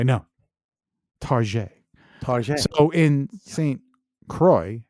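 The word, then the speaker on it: St. Croix: because we're hideous wow St Croy St cro say it St Croy yes yeah St Croy yeah because it's really c o iix I love how we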